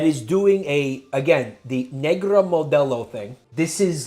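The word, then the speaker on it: Negra Modelo: Yeah, that reminds me of Negra Modello.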